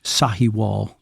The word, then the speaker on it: Sahiwal: And for the work of the ministry in Sahiwal. Did I say it right? Yep. Yes. Yeah, Sahiwal.